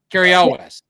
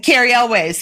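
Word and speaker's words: Cary Elwes: Wesley in The Princess Bride, who was also Carrie Elwes. Well, Carrie Elways. Yeah, I always called him Even Carrie names Elways. you pronounce wrong.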